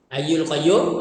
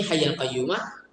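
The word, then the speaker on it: الحي القيوم: Hayyul Qayyum, okey. Ada tak istighfar yang macam atas ini, Hayyul Qayyumah, di dalam kitab-kitab hadis? Seperti yang saya telah rujuk sebelum ini, memang ada kedua-dua cara bacanya.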